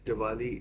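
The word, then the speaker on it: Dvali: think his name is Diwali. In fact, let me just check because I don't want to pronounce it wrong. It is Diwali, and it reminds me of the festival, Indian festival, Diwali.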